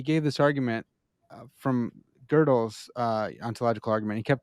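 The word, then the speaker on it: Gödel: pronounce whatever we want wait how is it pronounced it's girdle what it's got the two little dots on top that's German man it's uh it's well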